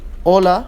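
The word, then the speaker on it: hola: here three examples in oh la prohibida and hasta okay the you the i surday H is not pronounced it's silent they mean respectively hello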